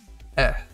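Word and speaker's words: え: in romanji it's the letter i but it's pronounced e like the markiplier meme e and then we have eh because it looks like a fancy bird or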